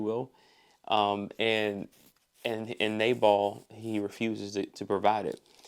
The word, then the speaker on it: Nabal: But but we see in chapter 25 um this interaction with uh Nabal or Nabal as I think one um translation pronounces it.